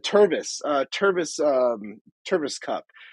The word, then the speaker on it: Tervis: out with some like small lower stuff uh termis bottle terms okay I guess I guess so but like no I said Tervis uh Tervis um Tervis cup uh t-e-r-v-i-s Tervis